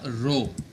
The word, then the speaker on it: rho: And this symbol is of density and it is pronounced as a rho. Okay, RHO.